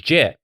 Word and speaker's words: GIF: okay which I will choosy moms choose JF so it's pronounced now we have GIF